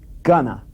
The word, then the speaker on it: gonna: In relaxed speech, however, we use the word gonna, which here we have spelled G-O-N-N-A. Gonna.